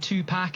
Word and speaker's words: Tupac: You a big Tupac fan? It's pronounced Tupac, like chicken pox, like it's Pac, Tupac, not Pac.